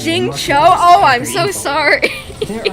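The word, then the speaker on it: Xingqiu: how you pronounce it is that not how you pronounce jin queen i'm sorry if i'm doing it wrong i will send to celestia with my laughter today ugh exorcism uses thomas it's jing cho oh i'm so sorry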